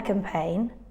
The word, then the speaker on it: campaign: the silent letter here a silent letter is G in all these words letter g is silent is not pronounced